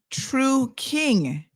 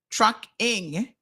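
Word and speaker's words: Trukyng: t-r-u-k-y-n-g but you see I was putting I was making the first syllable the t-r-u-k trucking and it's true Tru King with a Y that's why you had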